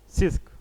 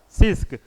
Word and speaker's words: CISC: हाँ, और सेकंड जो है हमारा, उसको बोलते हैं सिस्क। रिस्क और सिस्क जो है हमारा कंप्यूटर का क्या है, दो श्रेणी है। इसका स्पेलिंग देख लीजिएगा, CISC होता है, CISC, सिस्क, RISC और CISC।